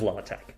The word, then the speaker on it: LaTeX: to know based on chat how you pronounce l-a-t-e-x oh as in the type setting software you mean lay tech oh no i say latex i think it actually is law attack so oh there is uh there is a